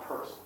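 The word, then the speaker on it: Peirce: That name is pronounced purse. CS purse.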